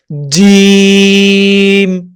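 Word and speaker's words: ج: আপনার মনে করতে হবে এই যে আপনার চোয়ালে কানের দুই পাশ দিয়ে ঝিরঝির করে উঠতেছে কিনা, কাঁপুনি ধরতেছে কিনা, তাহলে মনে করবেন জিম সঠিক উচ্চারণ হচ্ছে।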